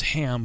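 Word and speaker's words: Cham: so i'm assuming that the way that's written it's it's ham but it's just the way it's spelled yeah c-h-a-m yeah it sounds like you're saying shem but i'm sure it's like my ham or something like that's probably yeah yeah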